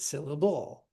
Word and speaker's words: syllable: Where is the stress? Syllable. If you can't hear it, try the different options and just exaggerate them. And you should be able to hear which one sounds right and which one doesn't. So is it syllable? Is it syllable? Is it syllable? It's the first one, syllable. That's how we say it.